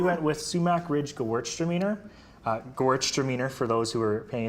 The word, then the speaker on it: Gewürztraminer: Gewürztraminer, for those who are paying attention.